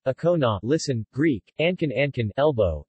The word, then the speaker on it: Ancona: and Kona Italian pronunciation okona listened Greek Anton Anton elbow is a city